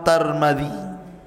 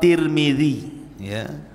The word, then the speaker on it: Tirmidzi: kota sebuah daerah dan ada yang kemudian membacanya tarmid ada tirmid jadi ada sebagian dalam mengatakan Imam tarmadi ada yang mengatakan Imam tur movie ada yang mengatakan Imam Tirmidzi walaupun yang masyhur adalah Imam Tirmidzi dan itu yang dikuatkan